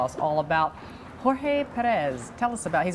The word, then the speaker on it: Jorge: Perez, and he's called George by most people in this country, but he actually is Jorge, you're right, that was a good pronunciation.